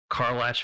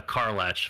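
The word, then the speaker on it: Karlach: combat dude is morog yeah okay what else carlash Fury of avernus say that again uh car latch Fury of avernus car l-a-c-h it's the the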